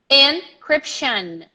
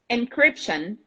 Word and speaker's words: encryption: pronunciation encryption tion tion it's not Shan Shan there is like an almost an A and an N very close at the end encryption encryption encryption encryption everybody